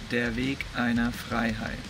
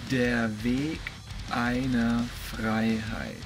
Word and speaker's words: Der Weg einer Freiheit: Hi, the proper way to pronounce our band name is Der Weg einer Freiheit. Der Weg einer Freiheit.